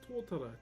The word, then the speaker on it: tōtara: This is tōtara. T-O-T-A-R-A is how you spell it.